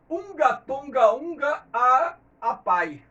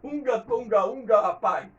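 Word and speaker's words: Hunga Tonga-Hunga Haʻapai: vulcão, que se chama Unga Tonga Unga Apai. Como é uma língua que eu não falo, né? Acredito eu que seja essa a pronúncia. Unga Tonga Unga Apai é o nome do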